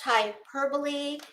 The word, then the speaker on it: hyperbole: don't need to tell you um yeah it's pronounced Hyperbole and they are exaggerated statements uh not not